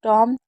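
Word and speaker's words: tomb: इसे प्लंबर इसे बॉम इसे टॉम एंड इसे क्रमबल इसे वम। तो हमेशा बी एम और बी होगा तो भी साइलेंट होगा। और बी और टी होगा तो भी बी हमारा साइलेंट ही माना जाएगा।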